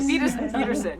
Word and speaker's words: Wiedersehen: Wiedersehen, if we're saying it right. Wiedersehen, yes. I love the spelling. I would never be able to spell it before because I never even thought about it.